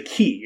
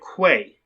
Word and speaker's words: quay: This is a key. It is like a small dock. This actor is clearly illiterate because he pronounced it Quay.